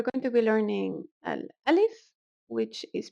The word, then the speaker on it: ا: So the alif, that is pronounced as an a, may also be pronounced as an e in certain regions.